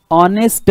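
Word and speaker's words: honest: मी शिकवलेला आहे की ऑनेस्टचं स्पेलिंग जरी एच ने सुरू होत असलं तरी या ठिकाणी हा एच सायलेंट असतो म्हणजे आपलं प्रोन्सिएशन जे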